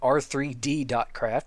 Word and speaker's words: R3D.craft: I call it R3D.craft because that's how it's spelled. It's spelled with a 3. And anything with a 3 in it, I don't pronounce as an E. I pronounce it a 3, which it is. So it's R3D.craft.